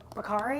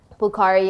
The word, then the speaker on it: Bukhari: confused you with Noor, what's her last name, Bakari? Am I saying it right? Bukhari, yeah, she was a actress?